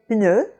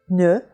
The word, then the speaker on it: pneu: So when you say pneu, close your lips for the P and say the ne right away. Pneu, pneu, and you'll have a very good French P sound.